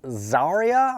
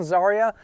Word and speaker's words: Xarria: Um, I think it is pronounced Zarya. I'm going to pronounce the X as a Z sound. Zarya. And the Zarya figure is really not that difficult to get.